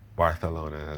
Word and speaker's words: Barcelona: Avita and Barthalona as they pronounce them in Valencia.